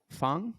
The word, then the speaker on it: Feng: pronounce it uh correctly most people just pronounce it it's funny it's almost